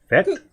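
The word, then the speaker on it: vetkoek: Vet. Vet. Cook. Vet cook. Vet. There you go.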